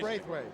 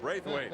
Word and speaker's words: Braithwaite: the Beavers #2, Jamil Braithwaite. Did I pronounce that right, Steve? Close. And he's a good one. Well, give me the correct pronunciation. Braithwaite. Braithwaite. There we go.